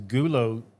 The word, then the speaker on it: GULO: we had and is is gulo Jean g l o not goon not the Goon the g u l o or G Jean or